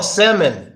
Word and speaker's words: salmon: what word that is oh sammon right salmon the fish right I don't know why